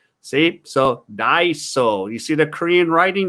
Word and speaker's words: Daiso: what a korean daiso looks like see so daiso you see the korean writing the hunger it's pronounced daiso so there's one of them okay